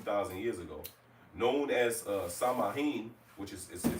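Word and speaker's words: Samhain: and the United Kingdom like most ancient holidays samayin which it says is pronounced so in but I'm gonna pronounce it the way I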